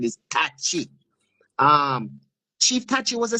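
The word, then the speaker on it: Tacky: One of the people who we've been saying should be a national hero, Chief Tachi, or Jamaicans say Chief Taki, right? But the Ghanaian pronunciation is Tachi.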